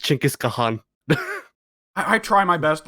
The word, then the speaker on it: Genghis Khan: always forget them remember whenever genghis khan comes up that he that it's actually supposed to be pronounced chinkis kahan i i try my